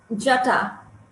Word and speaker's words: Jata: And the one that I was reading about, if I'm saying it right, is it Jata or Jata? Jata. Jata. Okay.